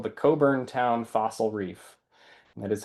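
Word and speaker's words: Cockburn Town: And these two layers, which are part of what's called the Coburn Town Fossil Reef, that is how you pronounce that, Coburn Town.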